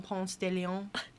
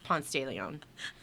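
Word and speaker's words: Ponce de León: Spanish explorer Juan Ponce de Leon. No, that's not how you say it. It's Ponce de Leon, because that's not French, it's Spanish.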